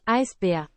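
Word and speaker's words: Eisbär: in Germany of course you know that it's uh pronounced ice beer I I spy ice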